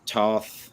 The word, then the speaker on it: Toth: saw that had that almost like classic Alex Toth. Am I pronouncing that last name correctly? Alex Toth, yeah.